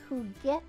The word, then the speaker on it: juguete: And the word is juguete, and that means a toy.